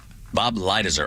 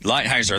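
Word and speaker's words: Lighthizer: Bob Lighter. I hope I'm pronouncing right. I think it's lightheis. Right. Lighheiser. There we go.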